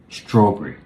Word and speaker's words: strawberry: When you have a compound word, you should stress the first part of the word.